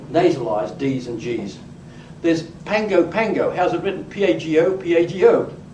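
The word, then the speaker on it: Pago Pago: There's Pango Pango.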